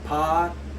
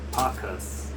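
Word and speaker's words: Pachus: Am I saying that? I'm saying his name wrong. Oh my God. Let's see. Pachas. There we go. That's way easier to say than what I was trying to say.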